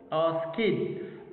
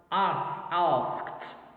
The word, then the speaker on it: asked: Ask kid. But actually no, it's pronounced asked, asked.